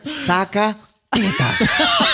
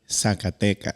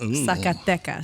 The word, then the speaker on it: Zacatecas: Zacatetas. No. Tell me how you say it. Hit her with it, Chiclet. Zacatecas. Boom. Zacatecas.